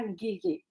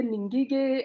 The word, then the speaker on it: Ngige: So when you are pronouncing our vernacular names, you drop the first letter. That's how it will sound better. Like my name, N is silent, Ngige is silent. So you don't say Ningige or Ningeri or Mabogo. You drop the first letter and you are there to go.